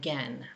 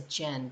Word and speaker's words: Gen: Sorry, it's Barefoot Gen. In my mind, I read it as Gen, but I was reading about it online and it's pronounced Gen with a hard G.